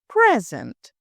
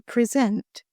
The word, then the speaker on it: present: a noun it is present your present was well received if we look at it as a verb it's to present let me present the quarterly report let's look at the